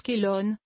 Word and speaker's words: Chelone: son nom botanique car shelon on prononce kellogne est le nom grec pour tortue le nom couramment utilisé Galan dériverait d'une mauvaise prononciation de shelone tout simplement la fleur